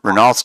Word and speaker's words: Renault: don't want to say I know renault's kind of popular but or Renault if you want to say it correctly but I I see